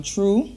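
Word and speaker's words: treu: check out her instagram page underscore t-r-e-u um true so that's how it's pronounced true so make sure you guys go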